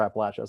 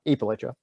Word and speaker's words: Appalachia: u.s appalachian region and really any pronunciation is fine uh for for appalachia some some folks say uh aprilaicha rather than appalachia um the question of